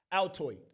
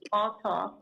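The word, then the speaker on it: Althoff: Bobby Altoid. Altoff. Right. Not Altoid.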